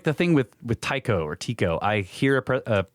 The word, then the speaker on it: Tycho: First, it is pronounced, he spells it Tieco. Tycho, not Tico.